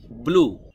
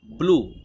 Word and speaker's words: blue: BLUE, ব্লু। ব্লু শব্দটির সঠিক উচ্চারণ হবে ব্লু। আপনি যদি এভাবে বলেন বুলু, বুলু, বুলু, বুলু বললে হবে না, আপনাকে বলতে হবে ব্লু একসাথে, ব্লু।